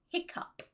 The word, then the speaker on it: hiccough: I can really only find one word with this pronunciation, which is hiccup, hiccup.